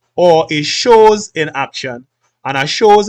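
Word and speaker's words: chose: You pronounce as shows.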